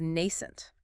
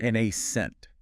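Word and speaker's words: nascent: Next is nent. N ce n t. Nent, two syllables stress on the first.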